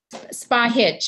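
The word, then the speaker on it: Spahić: Miss, is it Spahic? Is that how you pronounce your name? Spahich. It has a little accent above the C, so it's pronounced as a CH.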